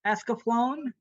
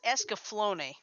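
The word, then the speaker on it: Escaflowne: and the vision of ascoflon team completes life actually that's escaflone okay it can be pronounced either way guys anyway that's the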